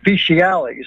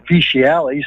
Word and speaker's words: fecialis: And the other part is fecialis. It's spelled two different ways, F-E-T-I-A-L-E-S and F-E-C-I-A-L-E-S. And you might note that the fecialis sounds a lot like feces because it really is